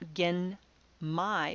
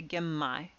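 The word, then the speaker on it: genmai: an M sound likewise gimme brown rice is not again my because again my is kind of hard to say it's a lot easier to say gemmai in the cases like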